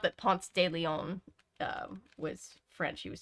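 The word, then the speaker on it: Ponce de León: pronunciations as a foreigner it's definitely Ponce de Leon not Leon yeah it's Ponce de Leon but it's just it's the southern accent I think a little bit people are like Ponce de Leon and I'm like okay even I in my muddled uh Georgia accent know that it's Ponce Stadium um branch is not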